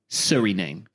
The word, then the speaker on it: Suriname: And I went to, now I haven't actually clarified the pronunciation of this place. Okay. But to me, it reads as Del Fuego. Suriname.